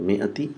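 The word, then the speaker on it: مائة: So mi'ati amin. So just see how it is mi'ati is written. Is written with alif mamduda, but it's not pronounced.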